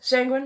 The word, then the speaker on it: sanguine: Yes, sanguine rhymes with penguin.